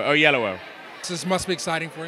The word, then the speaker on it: Oyelowo: Oh, on both sides of yellow. Oyellowo.